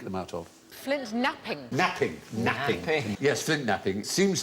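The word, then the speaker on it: knapping: no but you're right it begins with a silent k what we made early tools what do we make the out of Flint napping napping napping yes Flint napping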